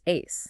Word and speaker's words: AIS: To do that, you are going to use the pneummonic ais. pronounce ACE, right?